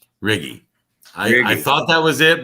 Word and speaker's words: Righi: been butchered before anyhow my italian it's italian name it's riggy riggy i thought that was